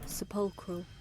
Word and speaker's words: sepulchral: Sepulchral? Let's see how we pronounce this. There we go. Sepulchral.